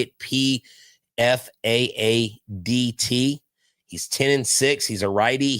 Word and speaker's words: Pfaadt: Right now we've got, I love this name, Brandon Pfaadt, I think is how you say it. Pfaadt.